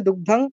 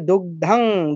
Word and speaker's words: দুগ্ধাং: ভোক্তা দুগ্ধাঙ্গীতামৃতামহত দেখুন দুগ্ধাং এর পরে অনুস্বার আছে দুগ্ধ এই অনুস্বারের পরে কি আছে গ বর্গের তো গর ক বর্গের সেই নাসিক কোনটা যেটাকে আমরা বলি কা খা গা ঘাং তাহলে দুগ্ধাং দুগ্ধাং দুগ্ধাং বললেও হবে ভুল নয় কিন্তু আমরা বলবো কি দুগ্ধ